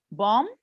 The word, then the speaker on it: bomb: another one yes so with the silent letter it's in bomb because when it comes after b sorry i when it comes after letter m of course letter b is silent okay okay for the